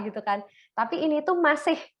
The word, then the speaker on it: Mbok Mase: Tapi ini tuh masih. Jadi ngomongnya itu kayak ada H-nya di belakang. M-A-S-I-H, kayak masih gitu loh.